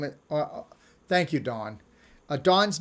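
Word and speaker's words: Dohne: is good oh her name is thank you dawn a dawn's name is spelled d-o-h-n-e and it's dawn thank you see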